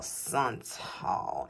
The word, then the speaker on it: Santal: scent notes in the Vanilla Santal. And I'm going to keep pronouncing it like that because we had some perfume educators that used to come to Sephora that taught us about scents, and that's how they would pronounce it.